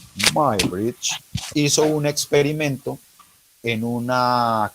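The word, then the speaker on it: Muybridge: señor edward my bridge se escribe muy bridge pero se pronuncia my my bridge hizo un experimento en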